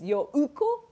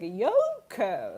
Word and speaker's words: Yoko: but Americans, for example, you guys stress things like karaoke or sake, right? Like you stress the second sound. So like my name is like Yoko, like naturally happens like Yoko. 違うね。 So 違う。 no, not that Yoko.